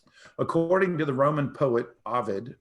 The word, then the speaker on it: Ovid: According to the Roman poet Ovid, O-V-I-D, I think that's how you pronounce it, or Ovid, the sculptor Pygmalion could look at a piece of marble and see sculpture trapped inside of it.